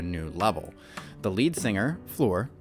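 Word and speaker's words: Floor: level the lead singer Flor pronounced like you uh what you are standing on uh had only been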